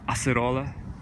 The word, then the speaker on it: acerola: Barbados cherry acerola cherry if you're from Brazil I believe it's pronounced acerola I hope I pronounced that right but this is I